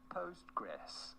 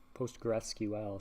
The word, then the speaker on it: Postgres: also known as simply postgress how do you go about pronouncing it well that's that's easy postgressql sounds like a mouthful so we just call it postgress anyway so on here